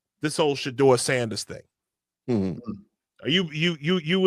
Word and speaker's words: Shedeur: Yeah, Shedeur.